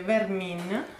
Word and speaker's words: Vermin: si pronuncia così come si scrive, Vermin, Vermin.